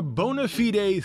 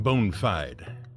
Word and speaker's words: bona fide: all out with a bonafide three-parter oh and note our pronunciation it ain't bone fide it's latin bona fide means good